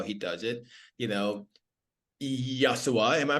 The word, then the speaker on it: Yashua: does it you know yasua am I pronouncing your name correctly yosua like josua exactly that's correct yosua yosua and I'm